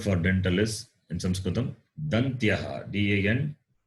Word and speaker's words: Dantyaha: The word for dental is in Sanskritam Dantyaha. D-A-N-T-Y-A-H. Dantyaha. D-A-N-T-Y. Dantya. A-H. Dantyaha. So it is pronounced by the tongue touching the base of the upper teeth.